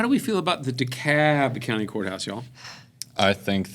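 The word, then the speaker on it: DeKalb: in at 775,000 people, Dicab County. Okay. Okay. And if you're not from around here, the L is silent. It's dec. And the A is long. It's not Dalb. If you call it Dalb, people will run you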